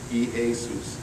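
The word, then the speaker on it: Ἰησοῦς: cuz it's Greek can you say this three syllables E A eus if you can say that e Asus you know what that is that's how you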